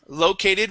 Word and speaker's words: located: to located right here located with the stress at the beginning located uhhuh one more